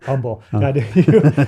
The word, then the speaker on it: Humble: i said it wrong humble yeah i forget the guys in texas don't pronounce the h part so yeah and that's